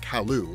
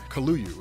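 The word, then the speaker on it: Kaluu: by the name of Kalu, or Kaluyu. It depends on how you want to pronounce it. I always call him Kalu.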